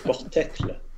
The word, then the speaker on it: porte-clé: C'est pas Portocle, bien ouais. joli. Portocle, dis donc, il rend des mots vraiment bizarres. C'est portecle. Portec, tu leur dis que Portecle. c'est portecle. Il faut bien prononcer.